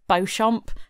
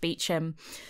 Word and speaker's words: Beauchamp: I know it's spelled Beauchamp, but I promise you it's pronounced Beauchamp.